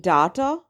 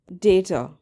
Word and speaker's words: data: If you've been saying data, you're saying it wrong. The correct way to say it is data.